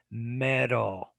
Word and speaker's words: metal: no it's i think the metal is not really a d it's that flap that flap symbol how do you say it kind of like that it's metal metal not a hard d not a not metal